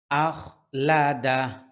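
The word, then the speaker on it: أَخْلَدَهُ: উচ্চারণ হয় আখ আখ আখলাদা আখলাদা শেষে কিন্তু হা এর উচ্চারণ করতে হবে আখলাদা ইয়াহসাবু আন্নামালাহু ইয়াহসাবু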